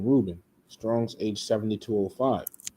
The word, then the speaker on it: Reuben: All right says she called his name Reuben Strong's age 7205. Now here the way you will pronounce this is Raaban.